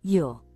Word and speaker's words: Zhou: Zhou diucapkan seperti nama umum dalam bahasa Inggris, Yo.